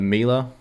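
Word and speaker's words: Emelya: bottom shelf um so the amela the miele that's how you say it like the pack of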